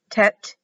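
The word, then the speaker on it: ט: numeric value of eight tet t-e-t sometimes it's t-e-t-h it can be a t or e has the number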